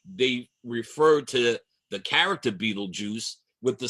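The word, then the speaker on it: Betelgeuse: It looks like Beetlegeist, but it is pronounced Beetlejuice.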